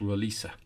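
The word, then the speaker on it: Roliça: a quick note there so the battle is spell rol I ca but I'm told it's pronounced Laura Lisa hope I'm right there'll be a lot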